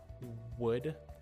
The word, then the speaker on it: would: So when we're saying words like would, See how my lips turn into a kind of O shape like that? Would, woman, right?